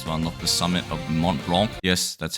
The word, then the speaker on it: Mont Blanc: the level requirements to unlock the summit of Mont Blanc. Yes, that's how it's actually pronounced, shocked me too.